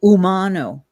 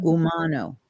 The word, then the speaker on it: Umano: ter one thing sorry my name is pronounced Umano Umano Umano yeah because I just